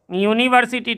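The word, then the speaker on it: university: यूनिवर्सिटी teacher, देखिए ये vowel से शुरू है लेकिन उच्चारण यदि हम यूनिवर्सिटी का लिखेंगे तो कैसे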